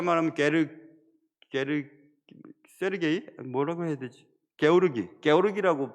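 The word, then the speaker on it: Георгий: 게오르기라고 발음을 해야 되더라고요. 조지를 러시아 말로 게오르기라고 발음하던데, 게오르기 주코프가 이제 점령을 합니다.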